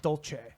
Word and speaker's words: Dulce: I've heard it pronounced a couple different ways. I've heard Dulce and Dolce.